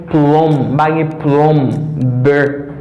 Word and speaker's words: plumber: La un peu moun mal prononcer mot ça en anglais. La m'bagay plumber. M'bagay plumber, but m'gain plumber.